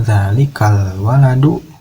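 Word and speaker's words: ذلك الولد: Zalikal waladu, zalika al waladu gitu ya kalau ditulisnya. Kalau dibacanya zalikal waladu ibnul mudarrisi, anak itu ibnul mudarrisi, anak guru, anak seorang guru gitu ya.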